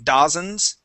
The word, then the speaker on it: dozens: were great okay uh dozens would have been one that you would have had troubled with before saying dozens okay but yes this was dozens you pronounce that just fine okay no other no